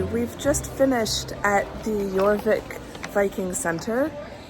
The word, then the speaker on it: Jorvik: we're going to the I think it's called the joric yorvik yorvik it's the it's pronounced y yic yeah yeah and the J is yeah I mean with